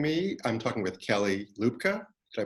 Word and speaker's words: Luebke: much for joining me I'm talking with Kelly Lucca I pronounced it right that's actually the correct pronunciation yeah I pronounced it who's Business Development Manager and meeting play and